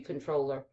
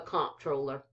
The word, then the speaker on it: comptroller: Then we have I think you pronounce this controller, y'all. Honestly, it's supposed to be controller. But where this is Texas, we call it the comptroller.